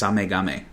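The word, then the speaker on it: SameGame: how you say it it's spelled same game but it's samagame it was developed by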